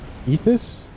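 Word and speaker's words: Ythotha: from Mambo this uh ethus ethus eventually the Y is pronounced and it is going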